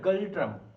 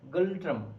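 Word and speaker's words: Ngultrum: শোনেইনি হাফজ ঠিক আছে এর এনটা উজ্জ্ব থাকে উচ্চারণ হয় গালট্রাম গল্ট্রাম এনগালট্রামও তুমি মুখস্ত রাখতে পারো যদি তোমার স্পেলিং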